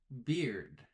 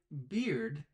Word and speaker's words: beard: The pronunciation is beard. And what's the drink, the popular drink, that you can order at a bar? Of course, I'm thinking of the drink beer. Beer, the drink, and beard, the hairy thing on a man's face, are